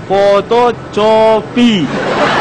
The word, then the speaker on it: fotokopi: Fotokopi. Tulis apa? Ini kau dengar lagi nih. Digital copying system. Aduh kawan, bacanya tuh bukan begitu. Bacanya tuh fotokopi. Jadi huruf C itu dibaca K, bukan C lagi.